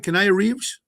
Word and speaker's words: Keanu Reeves: Keanu Reeves? Am I pronouncing his name right?